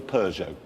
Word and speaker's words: Peugeot: once a british colony the emphasis is instead on the first syllable we've had word from peugeot was that done just